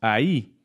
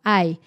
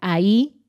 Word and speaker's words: ahí: otra parte también tenemos ahí que mucha gente pronuncia como hay por ejemplo a esta en lugar de ahí está dios para indicar